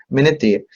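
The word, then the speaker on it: Ménétrier: Puede corresponder a la famosa enfermedad de Ménetrier, tengo entendido que se pronuncia, yo no soy francés, Ménetrier, y o síndrome de Soligner-Ellison, que es otra enfermedad completamente distinta.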